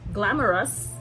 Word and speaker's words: GlamRUs: her line of products it's called glam or us glamorous it's pronounced glamorous but